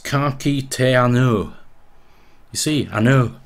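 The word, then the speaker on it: ka kite anō: But it's pronounced Kaki Te Anu. You see, Anu. That just sounds so much like broad Yorkshire, doesn't it?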